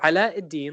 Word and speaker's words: Ala Eddin: So Ala Eddin, like Aladdin, it's properly pronounced Ala Eddin, is a We'll uh, talk is about a that very in good future restaurant.